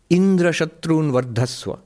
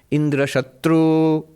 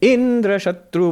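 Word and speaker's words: Indrashatru: Instead of putting the emphasis on the last syllable, Indra Shatru, he said, Indra Shatru Vardhasva.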